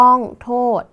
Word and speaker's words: โทษ: ด เด็ก ดัง นั้น คำ ว่า โทษ จึง อยู่ ใน มาตรา ตัว สะกด แม่ กด นั่น เอง นะ คะ ต่อ ไป